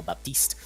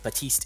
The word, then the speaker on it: Baptiste: down with Arisa and the Baptiste or I think batiste is the caster preferred pronunciation then it gives you